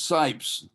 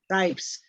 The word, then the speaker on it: Scipes: Did I pronounce that correctly? It's Scipes. Scipes.